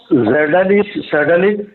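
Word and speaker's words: Изделие: ആ SU-57 ഉപയോഗിക്കുന്ന എഞ്ചിനാണ് സെഡലിക് 177S. ഞാനിതിന്റെ ഉച്ചാരണം റഷ്യൻ ഭാഷയുടെ ഉച്ചാരണമാണ് സെഡലിക് എന്നുള്ളത്. 177S എന്ന എഞ്ചിൻ എന്ന ഇനി ഞാൻ ബാക്കി ഭാഗങ്ങളിൽ അങ്ങനെയായിരിക്കും ഞാൻ പരാമർശിക്കുന്നത്.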